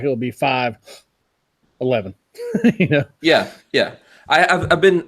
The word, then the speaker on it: 5.11: read that logo cuz I read it 5.11 it's fine I'm 11 okay cuz I put this so you heard it so the dot is silent I just already said 511 so that's all yeah